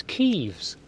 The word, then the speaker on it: Kiev: It's not Kievs, it's Kievs. That's how you pronounce. Assuming it's comes from Ukraine.